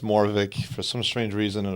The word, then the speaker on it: Moravcik: It's pronounced Moravcik for some strange reason in a part of Czechoslovakia that my family is from. Okay. The C is supposedly silent, or that's at least